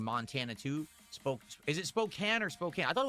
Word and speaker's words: Spokane: Spokane. That's weird. They they spell it with a E at the end because that would make it imply that the A is a full A, but it's not.